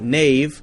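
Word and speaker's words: knave: spelling hasn't really changed we say k-n-a-v-e nave like nave n-a-v-e but still spell it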